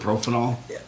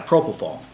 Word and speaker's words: propofol: But didn't you think that was strange that his doctor was putting him to sleep with Propanol? Yeah, propofol.